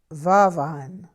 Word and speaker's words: vervain: then van van oil van van is a mispronunciation of the french word vervain in the creole french dialect of louisiana vervain is pronounced varvine i don't know what